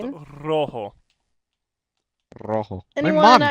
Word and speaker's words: rojo: But why don't you like fully roll on rojo? Rojo. It's not rojo. Rojo. You Yes, do! it is. If you are Spanish, you roll your R's.